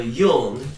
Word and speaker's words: Dung: For example, my brother Yung is spelled Dung, D-U-N-G.